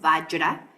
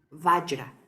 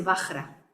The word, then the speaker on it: vajra: Aquí lo escribí como yo lo pronuncio, vajra, como si la J, en lugar de ser J, fuera una Y, vajra. Porque hay gente que dice vajra, pero al menos en sánscrito, su pronunciación en sánscrito es vajra.